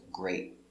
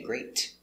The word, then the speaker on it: great: First one we have is great. The T is a stop T. You put your tongue up and stop. Great. We don't say great.